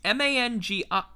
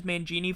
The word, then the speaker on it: Mangine: It's Mangine. I'm going to pronounce it as Mangini from here on out. If it's Mangine, I'll feel pissed.